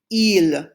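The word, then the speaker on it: ils: mixed together we use the pronoun il sounds just like the eel for he only now it has a silent s say it after me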